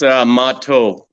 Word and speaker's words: Mahto: It's Mahto in Mahto. Sioux and Assiniboine. It means bear.